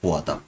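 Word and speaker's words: पोवाडा: পেয়াদা, মহারাষ্ট্রের রাজ্যের একটি লোকসঙ্গীত। এটা অ্যাকচুয়াল উচ্চারণ হচ্ছে পোয়াদা। পোয়াদা হচ্ছে এটার অ্যাকচুয়াল উচ্চারণ এই গানটার।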